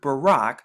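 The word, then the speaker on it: ברך: word baruch baruch baruch but if you take this off and just only have three characters like right here you get the word barack so that extra ooh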